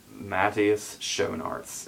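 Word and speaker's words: Matthias Schoenaerts: rust of bone and i wrote down the pronunciation of his name here um okay matthias shonarts is how he said it i think okay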